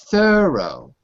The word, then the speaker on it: thorough: is rough rough fantastic next is thorough th that one is two syllables okay the second to